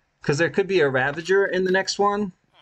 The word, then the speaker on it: ravager: they do have a ravenger uh ravenger yeah that's how you say it right ravager they have a ravager